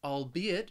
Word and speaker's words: albeit: it short vacation albeit one way that I think well one way to think about this word to help you pronounce it is that you can really break this word into those three syllables and pronounce the word the the the way it looks all be it allbe it allbe it the next